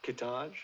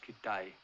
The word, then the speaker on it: Kittage: Kittage. It's pronounced Kittai.